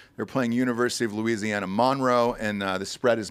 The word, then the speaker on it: Monroe: here which one you say this word monroe no it's monroe it's monroe that's how they pronounce it there are you do